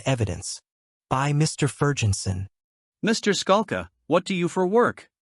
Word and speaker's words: Skalka: the court said please state your name and spell it the witness said my name is Scala SK a lka the court said you may